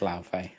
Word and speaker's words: Laufey: God of War, how do you pronounce this? Laufey? I want to say Laufey. It's Laufey.